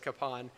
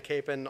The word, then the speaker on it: Kapaun: uh it's likely i will slip back into capin although i try to try to call him kapon now as well um either way what i'm